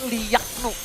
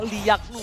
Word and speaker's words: Liaknu: Bacanya tuh Liaknu. Liaknu. Iya, kita bantu juga buat kalian semua yang bingung cara bacanya Liaknu. Seperti apa? Liaknu ya.